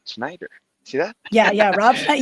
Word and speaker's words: Schneider: Yeah, I say it right, Snyder.